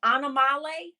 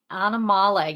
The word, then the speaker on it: Animale: Sanctuary is actually the the pronunciation for the word animal so could you say it for our listeners it's pronounced anamal Sanctuary anamal yeah that for some